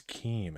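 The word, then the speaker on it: CHIM: is e okay versus e so Kim is Keem interesting okay so we want to pull this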